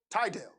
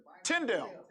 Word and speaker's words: Tyndale: wycliffe did it and tyndale tydell tydell it's tyndale tyndale tyndale he they did it